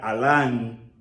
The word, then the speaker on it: almah: cubierta cubierto verdad Entonces Alan es la raíz se pronunciaría de esa forma Aunque dijimos a l m se pronuncia Alan verdad que significa guardar